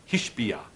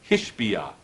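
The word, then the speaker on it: השביע: Sounds almost exactly the same. Hashbeah Hishbiah. And it is written exactly the same. Hey, Shin, Vav, Ayin. But it's pronounced slightly different, both words. Hashbeah, the swearing, Hishbiah, to swear. So it's the same word, but it's said twice.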